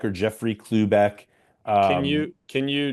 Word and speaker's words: Klubeck: I'll say it again. Clueback. Like get a clue.